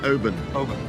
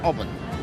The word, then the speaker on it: Oban: pronounced Oban. Not Oban.